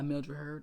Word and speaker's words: Mildred Hurd: Her name is Gracie Emery, who's Milroyd Hurd, who's plays Gracie Emery, or Gracie Emery, who's played by Mildred Hurd.